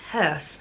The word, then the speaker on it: House: House is pronounced hearse, something I've been practicing.